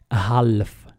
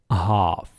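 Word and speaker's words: half: in انتبهوا جيدا هنا هذه الكلمه الاغلبيه ينطقها هف هف يعني بحرف ال لكن لا تنطق حرف ال هاف هاف اعدها هاف ارجوكم انتبهوا جيدا لاننا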